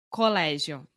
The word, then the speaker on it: colégio: E também muitas vezes palavras com O eu pronuncio com U. E Por exemplo, colégio. Muitas vezes. colégio, Muitas pessoas falam colégio.